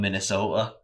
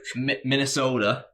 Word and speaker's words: Minnesota: do some recon on Minnesota. Minnesota. So I've done. Is that the right pronunciation? Minnesota. Or is it Minnesota? Is it like soda with a D at the end?